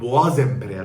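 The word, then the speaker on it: Bois Impérial: bir haddini bildirdi ok Bak ben de biliyorum boğa diye okunur ancak Bak o kelime boğa diye okunur Ama sonunda sesli harfle başlayan biri varsa o ze boğaz emperyal olur Anladın mı kelime kelime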